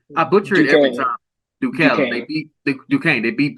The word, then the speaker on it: Duquesne: How do you pronounce that college? I get it. I butcher it every time. Duquesne.